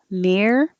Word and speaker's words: mirror: Once you curl it back, mirror, hold it there and make the R noise again.